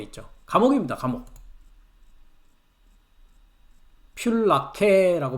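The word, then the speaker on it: φυλακή: 필라케라고 발음을 합니다.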